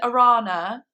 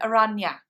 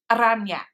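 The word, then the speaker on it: Araña: Like you said, the N with the squiggly line on top has like a nya sound. So when I said Arana, I actually should have said Aranya. Aranya.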